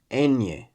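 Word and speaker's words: ñ: But, isn't it just enye?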